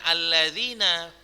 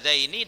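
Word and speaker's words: اللذين: Italia Nah di sini sering terjadi kesalahan sering orang membacanya ini dengan alladziina karena dia enggak tahu membedakan penggunaan alat Azzaini dengan alladziina dari mana Ustaz bisa membacanya ini dengan hal Azzaini bukan alladziina dari kata kerja setelahnya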